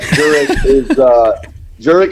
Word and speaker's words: Jurek: joining us today, Urich. I hope I'm pronouncing that correctly. Is that right? Close, not really, but Jurek is how we pronounce it. Jurek. Kind of a Czech pronunciation there.